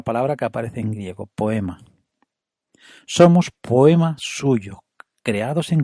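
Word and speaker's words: ποίημα: el griego original es una palabreja que se pronuncia poema poema a que parece que no hace falta ni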